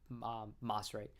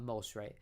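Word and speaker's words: Maserati: maserate after masi nissan so i've always called them moss right not most right so this guy was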